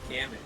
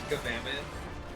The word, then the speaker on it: Gammoth: Oh, it's not Gamoth, it's Gammoth. Yeah. That makes sense. But most There's people an added an enemy extra. in Gamammoth.